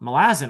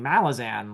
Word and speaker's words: Malazan: I was mispronouncing, you know, Malazin. I was saying Malazan like lots of other people."